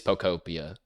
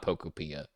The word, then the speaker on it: Pokopia: It is Pokopia because it's supposed to be like Utopia, but it's Pokemon. It's not Pokopia.